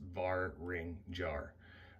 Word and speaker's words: Vaeringjar: guys today about the barrage are heated beard brush that's actually how you pronounce its bar ring jar it comes from a